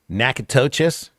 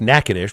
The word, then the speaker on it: Natchitoches: And when you look at it, you want to pronounce it Natchitoches. Those who've grown up in the state here know it's Natchitoches, but it took me